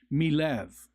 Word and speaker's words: Melev: It's pronounced Milev.